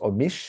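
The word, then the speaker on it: Omiš: D'abord, on a la cité de la ville, pardon, de Omis que que je crois qu'on prononce Omish ou quelque chose comme ça, mais c'est O M I S et donc c'est l'image que vous avez en haut à droite.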